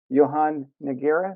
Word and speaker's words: Johann Nogueira: to the next level, my next guest is Johann Nogueira. Did I pronounce that right?